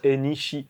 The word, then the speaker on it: NEC: avant d'habiter au Japon, c'est que ça se prononce Enishi. Ah oui, Anishi.